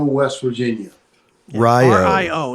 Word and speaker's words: Rio: It's Rio, West Virginia. Yeah, Rio. R-I-O. It's spelled like Rio, but it's Rio.